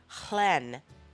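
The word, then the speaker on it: Lleyn: it's very exciting um so it is the Clen sheep which is Welsh it's actually spelled l e y n but it's pronounced Clen as best I can determine from um some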